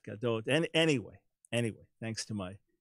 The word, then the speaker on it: Gadot: And Gadot, I was just kind of pronouncing the Hebrew the way I thought it should be, but it's Gadot.